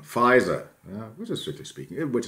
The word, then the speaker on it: Pfizer: a baker and then spelling pronunciation of course in the english-speaking world pfizer well fries and this is where